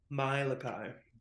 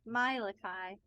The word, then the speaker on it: Malachi: talk with Malachi or my leaky what's how do you pronounce it no mylekai mylakai not your look high okay well no I'm